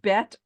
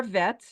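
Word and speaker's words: בית: So this letter is called Bet or Vet or Bays or Vase.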